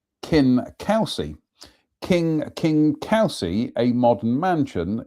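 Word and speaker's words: Kingcausie: Anyway, King Kelsey, pronounced Kin Kelsey.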